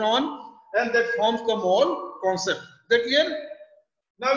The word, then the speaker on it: mol: Now this is, you know, I am going to tell now next about the mol, M-O-L. Now pronunciation is same. We pronounce in same manner.